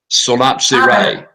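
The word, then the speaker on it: Solapsi-Rai: Could you spell it, please? Solapsi. S-O-L-A-P-S-I dash R-A-I. Solapsi Rai.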